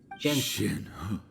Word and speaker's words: Shenhe: Shenhe.